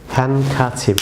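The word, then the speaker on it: handkerchief: Viewers এটিকে অনেকে আপনারা হ্যান্ডকারচিপ, অনেকেই এই ডি ভিউয়ার্স এটি সাইলেন্ট থাকবে, এটি প্রনাউন্সিয়েশন হবে হ্যান্ডকারচিপ, আমার সাথে বলুন হ্যান্ডকারচিপ, হ্যান্ডকারচিপ, আবার বলুন হ্যান্ডকারচিপ, হ্যান্ডকারচিপ।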